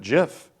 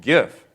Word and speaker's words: GIF: format first came out I was calling it Jiff like GI everywhere else in the English language giraffe giant okay you name it GI is a soft G and then a bunch of computer people told me no you're it's you're wrong it's gif so it took me